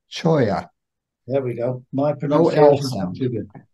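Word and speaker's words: cholla: o l l a is a Spanish word and it's pronounced choya there we go my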